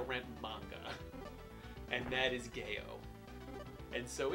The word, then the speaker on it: GEO: game retailers in Japan as a place called Gail it spelled geo but they pronounce it Gail from whatever reason and Jo